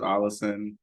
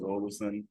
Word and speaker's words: Ollison: It's actually kind of different in my family because like one of my uncles prefers Allison. Okay. Everyone else says Ollison.